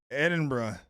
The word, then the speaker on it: Edinburgh: If you want to go go in Edinburgh.